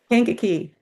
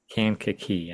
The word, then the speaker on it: Kankakee: Kankakee. Kankakee. Okay. Yeah, the Kankakee Marsh. Yep. And that was actually that I didn't know this story until I started doing this research, but the Kankakee was bigger than the Everglades, if Wow.